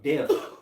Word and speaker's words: debt: He said, I'm the king of debt. Debt. Debt. Debt. Debt. Gotta say debt. Debt. Right. The B is silent.